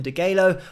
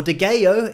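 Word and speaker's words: Degüello: 1979 with their album de gallo or de gayo if you're pronouncing it in the spanish way but anyway i think most people pronounce the l's and they came back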